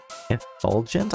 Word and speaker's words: effulgent: Sadness and effulgent? I don't know that word. Let's look at it. How do I pronounce that?